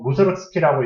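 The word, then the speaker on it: Mussorgsky: 모레스트 무소그스키 그래서 무소르스키라고 이제 발음을 하는데 아무튼 무소르스키가 was a composer니까 작곡가였대요.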